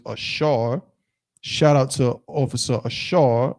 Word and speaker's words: Asher: What does Asher mean? And Asher, of course, in Hebrew is Ashar.